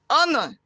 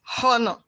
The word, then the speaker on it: honor: W is silent in those words note sound is silent in some words like honor not Hana our not how honest are not punished this